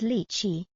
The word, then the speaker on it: lychee: The way I pronounce lchi is lichi, which feels more natural and less confusing when I'm ordering it at the store.